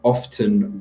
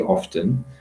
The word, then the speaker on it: often: so your question is I would pronounce often with the T because it's professional is more formal and it's the correct way to say often but a lot of